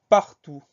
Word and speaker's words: partout: commence avec le mot partout la première syllabe par ppr tout va bien le deuxième c'est tout théo ut donc on a une lettre muette le thé finale de ce mot on va essayer de